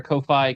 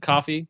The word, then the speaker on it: Ko-fi: I just call it Ko-Fi. I'm pretty sure you're supposed to pronounce it coffee, but I just call it Ko-Fi.